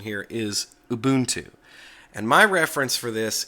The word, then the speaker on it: Ubuntu: it Ubuntu the corre the close to correct pronunciation here is Ubuntu and my reference for this is Mark shuttleworth